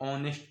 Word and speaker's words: honest: ऑनेस्ट वड cutter बच्चों यहां पे देखोगे ऑनेस्ट पढ़ेंगे इसे य साइलेंट है एच साइलेंट है इसलिए इसको ऑनेस्ट पढ़ते हैं ओ एन ई एस